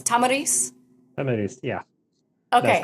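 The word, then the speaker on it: Tomyris: to say her name it's is it tarce Tomar Tomar Tomar yes I think I heard I think I heard a middle easterner pronounce it and so I went with that so it's Tamaris Tamar yeah okay that's correct I learned all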